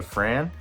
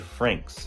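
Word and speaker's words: Franxx: I was saying Darling in the Fran, and this is actually Darling in the Franks. That's what he told me it's pronounced.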